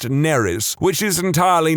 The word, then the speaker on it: Nerys: be fine, except that it's spelled exactly the same as a Welsh name, which is pronounced Neris, which is entirely not what I was going for.